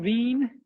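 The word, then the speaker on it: Wien: uh named for wilhelm veen uh veen i think was a german or austrian or some some central european so that the w is pronounced with a v veen's law he won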